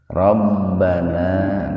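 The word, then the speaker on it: رَبَّنَا: Rabbana. Ini karena banyak kita dapati dalam doa, banyak kita dapati dalam sholat. Rabbana matabi'i alif, la matabi'i alif. Jadi dibacanya mad.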